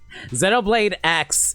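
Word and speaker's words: Xenoblade X: Zenolade X if you prefer. But I'm pretty sure it's supposed to be a cross like in terms of pronunciation that is to say I don't really have any good targets tonight.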